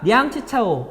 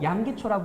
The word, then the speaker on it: 량치차오: 자, 량치차오 양기초라 부르는 한자 발음입니다.